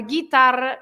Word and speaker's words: guitarra: say guerra because it's a G-U-E, or guitarra, G-U-I.